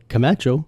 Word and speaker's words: Camacho: It's it's pretty easy. Camacho. Yeah. And then they're like. And you're like, all right, whatever. They add a secret J.